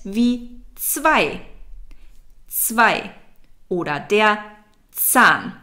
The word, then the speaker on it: Zahn: For English native speakers, the Z is very hard to pronounce in German. So it's not a Z, that's a different letter. It's Z. It's a T and an S together.